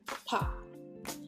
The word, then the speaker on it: Park: Park, kalau kita kan bahasa Inggris park gitu ya. Padahal kalau di Korea dia aslinya bacanya pa. bak, bukan. Pak. Jadi B-nya ini samar. Pak. Cara penulisannya, apakah BAK? Yes. Jadi bukan PARK, tapi penulisannya adalah pak.